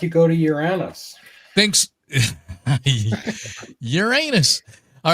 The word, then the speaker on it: Uranus: Uranus. All right, thanks The to SC Montreal. pronunciation is Uranus.